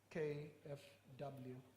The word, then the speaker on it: KfW: the German Development Agency, KfW. I'm not sure that's how to pronounce it in German, is it? We got it right, thank you very much.